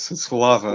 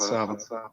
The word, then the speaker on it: Slava: It's Slava, not Sava.